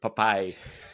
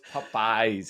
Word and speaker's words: Popeyes: that so yes I I struggle with the word papy it's not because it's not the word I know it's popey's I can't say it right but it's popey like Popeye the Sailor I know I know